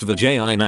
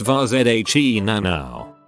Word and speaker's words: vagina: that dreadlocks beanie wearing woman meme it's not vagina anymore it's pronounced var zhe nano Vezina the warrior princess me your blood pressure